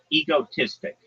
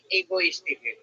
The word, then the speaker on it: egotistic: Let's Let's work on your pronunciation there. Egotistic. Egoistic. Not not egoistic. Egotistic. Egotistic. That's right. Good job.